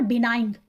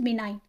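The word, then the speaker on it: benign: आपको दोबारा से बोल इट इज नॉट बिनाइन इट इज बिनाइन ji silent होगा इसमें मार्था इज अ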